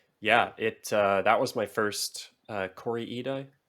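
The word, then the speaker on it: Kore-eda: Yeah, that was my first Corey Ida, I think is how you say his.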